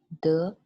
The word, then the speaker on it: 德: It's pronounced as 德, which means virtue or integrity.